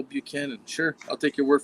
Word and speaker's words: Buchanan: James uh how do you say that? James Butchman. Buchanan. Buchanan. I was sitting there. Butchman. Butchman. Who the heck is a Butchman? James Buchanan.